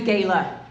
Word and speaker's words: Gayla: Yes, my name is Gayla. That's actually how you spell it. Gay LA, but I'm not gay.